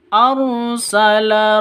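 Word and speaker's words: أرسل: rasul haqq arsala rasulahu arsala rnya ro tafkhim tebal ya ro tafkhim harus ditebalkan arsala seperti itu. Bukan arsala tapi arsala seperti itu ya.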